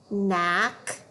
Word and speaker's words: knack: Remember that K is silent when it's followed by an N. Let's read those words. Knack, knee, knife.